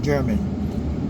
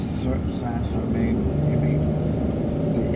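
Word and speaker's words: San Germán: Some people call it German, but it's Saint-Germain.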